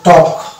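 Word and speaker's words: talk: আমি পেয়েছি এ আর এল কে থাকলে এল উচ্চারণ হবে না এটা সাইন্স হয়ে যাবে তাহলে এটা টক অনুরূপভাবে এটা হবে যে ওয়াক ওয়াক ওয়া যুক্ত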